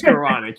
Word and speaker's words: Skowronek: It is Skowronek. He did say he doesn't know how to spell it.